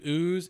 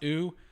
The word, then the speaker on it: ewe: Breeding set is a ram and two ewes. It's pronounced ew. I thought it was ew, and every farmer thought I was a freaking moron, which they're not wrong,